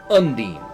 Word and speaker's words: Undine: at it's pronounced differently trials of mana remake specifically refers to her as undine u-n-d-e-e-n is how the phonetic spelling would be it is undine she lives in